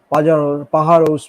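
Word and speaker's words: Pájaros: পাহাড়োস বলে একটা আছে, মানে পাজারোস অনেকে দেখতে লাগে পাজারোস, বাট যেটা উচ্চারণটা হয় না আর কি।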